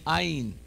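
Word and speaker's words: עין: Say with me, ayin. Ayin, like aleph, are gutturals that are silent today.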